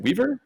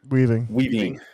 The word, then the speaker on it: Weaving: But my other guy, is it Hugo Weaving? Yep. Was it Weaver? Weaving.